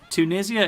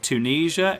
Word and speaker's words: Tunisia: and Tunisia that's because Tunisia is the British way of pronouncing the name of the country um but Tunisia is how they say